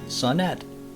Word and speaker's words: Sonett: It's sonett, which means something small in Swedish. I don't know what. And it's pronounced sonnet, like kitchenette.